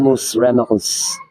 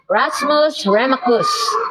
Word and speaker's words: Rasmus Remacus: Spell it so they will know, because it's going to be. Rasmus Remacus. Rasmus Remacus.